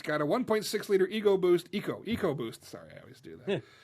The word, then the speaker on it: EcoBoost: Is EcoBoost different from the EcoBoost? Yes, Yes. because one is pronounced correctly. Properly. You're Exactly. right. Who calls it Echo Boost?